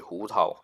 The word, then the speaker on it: Hu Tao: Actually, it should be Hu Tao if you want to say the exact exact pronunciation, Hu Tao.